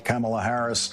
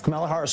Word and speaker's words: Kamala Harris: Harris was a very good prosecutor camela Harris camela Harris camea Harris camela Harris camela Harris camela Harris